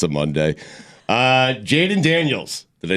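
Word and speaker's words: Jayden Daniels: start God bless football it's a Monday uh Jaden Daniels did I say it right yes LSU quarterback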